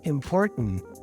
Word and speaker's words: important: you have to go import import you see my tongue is kind of up but it stops there import import and then I continue the Sound by now making it with my nose to pronounce the N it's a um putting it together I have important important so my overall impression